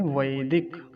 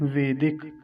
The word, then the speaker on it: वैदिक: तो कुछ लोग इसका उच्चारण गलत करते हैं, क्या कहते हैं, वेदिक। एक मात्रा बनाते हैं, वेदिक बोलते हैं। तो वेदिक नहीं कहना है, वैदिक, क्योंकि वकार पर दो मात्राएं हैं, ऐ की मात्रा है, ऐ। तो क्या बोलेंगे, वैदिक, ऐसा।